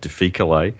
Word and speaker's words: difficile: diff, where you've got this overgrowth, the Clostridium difficile, or a lot of people call it difficile. I'm an old Latin scholar, so I call it difficile, because you have to use a hard C if you're an old Latin scholar.